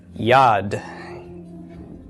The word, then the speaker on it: yad: on your vocabulary list how would this be pronounced Yad why of the yo'd short a of the comments followed by the D of the Dalit okay so yad yad